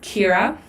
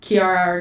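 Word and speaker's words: Ciara: you plant your name so it is kira so like kira not kiara kier cr sierra but it is it's spelled c i a or a it's just because it's an irish name um so yeah kiera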